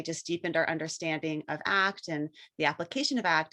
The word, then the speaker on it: ACT: more about what is act sure and it's pronounced act and it's it's so funny that the the